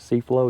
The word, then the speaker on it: C-Flow: C-Flow?